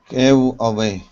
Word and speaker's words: giveaway: Give away. Give away. Give away. Yep. The stress is actually on the first word. Giveaway.